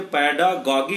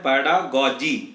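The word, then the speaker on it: pedagogy: कई बार हम जल्दी में पैडागॉगी बोल जाते हैं, तो आप लोग माइंड नहीं करेंगे। सही वर्ड होता है पैडागॉजी, ना कि पैडागॉगी। पैडागॉगी गलत प्रोनाउंसिएशन है, पैडागॉजी सही प्रोनाउंसिएशन।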